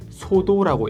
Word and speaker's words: Xodo: 계속 부를 거니까 이 어플은 그냥 부르기 쉽게 소도라고 읽을게요.